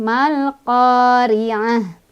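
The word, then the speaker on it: ما القارعة: Ri-nya ro-nya ya, ro tarkik lagi ya, atau ro tipis. Karena ro-nya berbaris kasroh, jadi otomatis ya itu mah. Cara bacanya ditipiskan. Tipis tuh dengan mulut yang agak mundur dan sedikit meringis.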